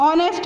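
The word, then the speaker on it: honest: अब ऑनेस्ट बोलते हैं, इसमें एच साइलेंट होता है तो ऑनेस्ट की वजह से यहाँ पे किसका यूज होगा, एन का यूज होगा।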